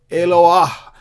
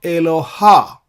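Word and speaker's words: אלוה: And I'm pronouncing H like that because of the mapik, this dot here in the letter He. So Eloah. It is not Eloha.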